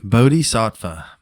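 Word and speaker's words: bodhisattva: with you yeah yeah a it's a wild bod SATA bod SAA is the term and I finally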